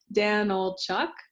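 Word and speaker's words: Danylchuk: the super short crash course on how to pronounce my last name so it's Danel Chuck uh I like to joke how much wood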